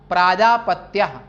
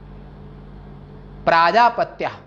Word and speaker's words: प्राजापत्य: प्रजापति शब्द है, और प्रजापति में पहले अक्षर प्रा है और पा में आ का डंडा हो जाता है, तो प्रजापति के पुत्र में अ चला जाएगा, और ये शब्द का उच्चारण होगा प्राजापत्य, प्राजापत्य माने प्रजापति का पुत्र।